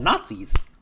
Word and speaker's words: Gnatzis: They're called Nazis. Why are you pronouncing like that? Because in this comic, they're called Nazis, as innat the bug. G N A T Z I S.